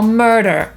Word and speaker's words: murder: w słowie „fur” /fɝː/ – „futro”, po brytyjsku /fɜ:/; „morderstwo” – „murder” /ˈmɜ:də/ albo /ˈmɜ:rdɚ/ albo „surfing”, który po polsku czytamy przez „e”, po brytyjsku będzie to /ˈsɜ:fɪŋ/, a po amerykańsku /ˈsɜ:rfɪŋ/.